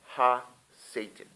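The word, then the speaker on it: הַשָּׂטָן: The origin of Satan is Hebrew, meaning accuser, adversary, the tempter of man, pronounced Ha-Satan.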